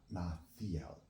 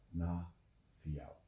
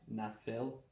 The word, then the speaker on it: Ná Theial: Our name is Ná Theial. Not Ná Theial. Ná Theial. Drop the E. The way that he has it spelled is the correct way, but the E is pronounced differently than the way his brain interpreted it.